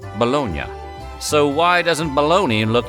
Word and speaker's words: Bologna: was born but in Italy that city is pronounced bolognia so why do we call this sweet meat